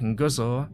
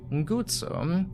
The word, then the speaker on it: Guzzo: This time I pronounced his last name correctly. Not Guzzo, but instead Guzzo.